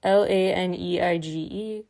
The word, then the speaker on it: Laneige: There's a new BTS cosmetics line out that features 3 different lip-sleeping mask products, they're called, with Laneige, I believe it's pronounced, Laneige.